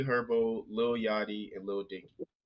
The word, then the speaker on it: Herbo: another hand all right their last name rhymes with turbo Turtle turbo Turbo sh is it g herbo yep it's G herbo